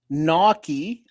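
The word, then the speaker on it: gnocchi: Naki, pronounced Naki, is a a varied uh family of Italian pasta, like dumplings made of small rolls of dough.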